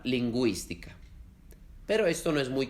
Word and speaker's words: lingüística: Para hacerlos, se ponen dos puntos encima de la U, como en la palabra lingüística.